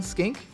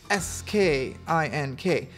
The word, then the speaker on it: skink: lizard blue tongue skink s-k-i-n-k rhymes with sink rhymes with think rhymes with stink rhymes with blink rhymes with pink but it's none of